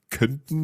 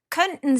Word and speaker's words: könnten: Könnten Sie mir bitte einen Kaffee bringen? Now, for me, it's written, I know that it's written K-O with an umlaut, double N-T-E-N. Is that T not really pronounced?